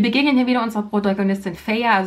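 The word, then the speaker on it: Feyre: hier wieder unsere protagonistin feier sie wird feiere geschrieben und stockfehler ausgesprochen und damit fehler ist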